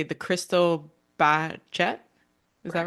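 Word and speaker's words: Cristal Baschet: score on the I'm probably not going to pronounce this instrument correctly the crystal bachet is that right yeah Crystal bash bash um yeah so how did you but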